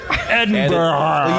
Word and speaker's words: Edinburgh: same with edinburgh scotland edinburgh you say it like uh you say it like like butter you go ed butter ed and better yeah and better ed uh anyways mckenna so